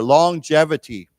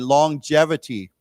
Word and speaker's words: longevity: let's say that together longevity remember the G here is pronounced with a J sound not a not a hard G so again longevity longevity okay and then this